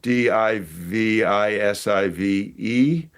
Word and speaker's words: divisive: the words that spelled D I V I S I V E. um started pronouncing it divisive. Oh yeah. And that's a very common American pronunciation.